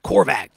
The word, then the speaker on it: Korvac: Sounds like a vacuum cleaner, doesn't it? Korvac.